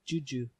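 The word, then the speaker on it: DjuDju: it's called juju okay DJ you DJ you juju it's it's a banana beer the D is silent oh yeah I'll let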